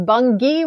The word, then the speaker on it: Bungie: It is Bungie with a hard G. All right. Bungie.